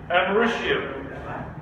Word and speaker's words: americium: Americium. Spelled like America. It's called americium.